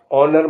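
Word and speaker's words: honour: psychology मनोविज्ञान एच ओ एन ओ यू आर ऑनर माने सम्मान डब्लू आर आई टी E right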